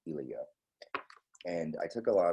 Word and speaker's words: Ilya: for a long time i was thinking it was eli but it's ilia and i took a